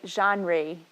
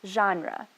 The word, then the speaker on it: genre: I always want to say genre or something, but it's pronounced genre, okay?